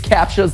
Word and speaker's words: CAPTCHA: protecting the act clue with a CAPTCHA, that's how it's said.